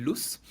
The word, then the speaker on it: Luche: De hecho, él lo pronuncia Brian Luz, Ah, ok.